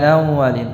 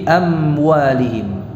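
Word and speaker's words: أموالهم: Ini hati-hati ya, termasuk kesalahan kita membacanya dengan samar-samar ikhfa ya, seperti tadi apa, amwalihim, amwa ya. Ini contoh kesalahan ya, bukan amwalihim tapi amwalihim.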